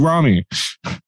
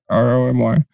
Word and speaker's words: Romy: and michelle's got like why am i it's spelled romney right r-o-m-y it's it's romy i know but it's